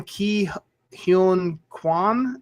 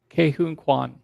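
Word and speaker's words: Ke Huy Quan: Um, Key, I'm going to mispronounce this lame. Key Hunuan as data. Kahun Kuan.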